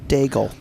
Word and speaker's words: Daigle: I put an N in the end of it, and I don't know why. It's Lauren Daigle? Lauren Daigle. Dingle. Yeah, Lauren Dingle? Daigle.